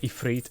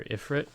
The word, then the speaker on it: Ifrit: woo let's go yeah I like pronouncing it ephr over Ifrit just because Ifrit sounds very whitewashed you know what I'm